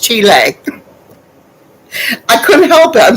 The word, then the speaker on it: Chile: insulted her back and saying aunt bob it's pronounced chile i couldn't help it i'm sorry we she